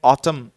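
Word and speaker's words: autumn: इसके अलावा जो एक वर्ड है ऑटम, इसमें जो लास्ट एन है स्टूडेंट्स ये भूल जाते हैं लिखना, क्योंकि जनरली जब हम ऑटम बोलते हैं तो जो लास्ट का जो एन है वो साइलेंट होता है, वो नहीं सुन पाते।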